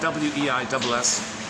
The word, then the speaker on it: Weiss: It's spelled W-E-I-S-S. I think it's pronounced Weiss. Edward or Eduardo or something like that.